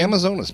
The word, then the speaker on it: Amazonas: I know that Jim and I are both enthusiasts of the Amazonas. Is that how you say it? Amazonas magazine? Amazonas magazine, yeah.